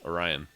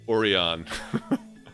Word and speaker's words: Orion: are we going yes orion or as a friend of mine in high school once called it oreon and i'll never i'll never pronounce it the the right way again um that's another one